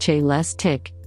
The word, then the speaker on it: Celestiq: The Celestiq, pronounced Celestiq, will be handcrafted at GM's Global Technical Center in Warren, Michigan, where it was designed and engineered.